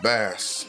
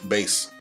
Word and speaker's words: Bass: oh yes thank you oh that technically if you still want to pronounce it like bass is also not exactly right but it's also how you pronounce the fish well yeah I mean